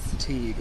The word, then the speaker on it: Teague: Teague. Am I saying that right? Teague? Yes. Like baseball league. Teague like baseball league.